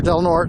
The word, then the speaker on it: Del Norte: Pier by the way that is the proper pronunciation here Del Norte not Del Norte uh and uh oh